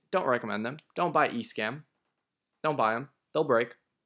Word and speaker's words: Escam: I said it right, Escam.